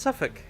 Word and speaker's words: Suffolk: Suffolk. When I was in London, we would get off at Suffolk Station. It was pronounced Suffolk. S-U-F-F-U-K. Suffolk.